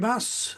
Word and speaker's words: Bass: It's pronounced Bass, isn't it?